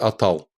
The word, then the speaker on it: Атал: как-то так повелось, что слово начинается с твердой гласной «а», то она дальше по необходимости произносится как Атал, так как это сохранилось у чувашей, вероятно, с гунских времен.